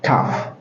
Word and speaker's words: tough: Il se prononce tough. Tough. Répétez après moi ici aussi pour avoir la main. Tough. Vous dites tough.